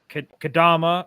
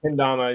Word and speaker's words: Kendama: He picked up Kadama. No, I said it wrong again. Kendama, yeah, you said that right.